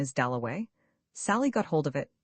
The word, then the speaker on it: Dalloway: Somebody had brought him over and Clarissa got his name wrong. She introduced him to everybody as Wickcham. At last he said, "My name is Doway."